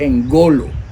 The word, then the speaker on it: engolo: Poder es engolo, igual que poderoso. Es engolo. Así es como se pronuncia.